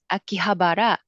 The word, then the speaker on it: Akihabara: Mi, you can help me with pronunciation. Shinjuku Harajuku Shibuya Scramble Planet Akihabara Museum of Akihabara.